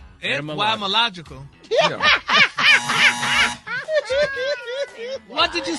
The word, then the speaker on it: etymological: Etymological.